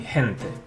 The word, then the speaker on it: gente: Also, it sounds like a soft H, as in gente, before the letter E and I.